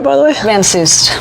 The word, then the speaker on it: Van Soest: Van Soest. Van Soest. The T is silent. Van Soest. Yeah. So it's like it's not Soest, but Soest. Soest. Like Dr. Seuss, but with a T on the end.